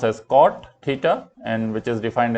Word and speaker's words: cot: lastly we have cotangent in short it is pronounced as cot theta and which is defined as a reciprocal